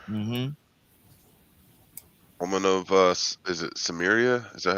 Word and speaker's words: Samaria: Woman of is it Samaria? Is that how you pronounce it? Yeah. Mm-hmm. I mean, Samaria.